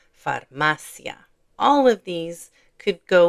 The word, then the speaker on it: farmacia: So, the stress is going to be on this syllable, farmacia.